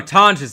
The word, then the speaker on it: Tonges: Oh, Tonges apparently is how you say his name. I've been saying Tongs because I never hear his name. My bad. I'm saying it wrong.